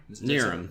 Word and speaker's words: Knierim: Nierim. Yes, that's a common mistake. It's okay. Yes, the K is silent. But Senior Airman Nierim, he works with me